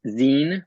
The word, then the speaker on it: zine: paper um it is Zen rhymes with Bean uh because the atmology